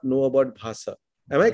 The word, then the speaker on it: Bhasa: And then he says, up until the 10th or 11th year of being at Margi, I did not know about Bhasa. Am I pronouncing it correctly?